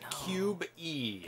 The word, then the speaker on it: Qb: I pronounce it Cube E after I learned how to program.